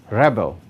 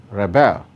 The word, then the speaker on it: rebel: Noun, rebel, verb, rebel. So the stress in the above words varies such that nouns and adjectives are stressed on the first syllable while verbs are stressed on the second syllable, as it is indicated